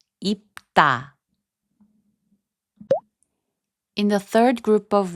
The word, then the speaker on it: 입다: 입다, which means to wear, is pronounced as 입다.